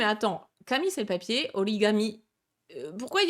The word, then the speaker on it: origami: pourquoi certains mots japonais se prononcent différemment, notamment pourquoi est-ce qu'on dit origami et non pas orikami, alors que le papier, ça se dit bien kami, effectivement, avec un K et non pas avec un ga.